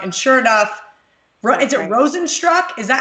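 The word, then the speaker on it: Rozenstruik: Minty's going to get knocked out in the first round, and sure enough, is it Rosenstruck? Is that how you say it? Yes, Rosenstruck.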